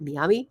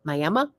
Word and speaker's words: Miami: a place called M apparently they don't pronounce it Miami it's mayama um and then uh